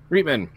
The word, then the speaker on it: Reitman: Is that how you pronounce it? Reitman? Yeah. Reitman.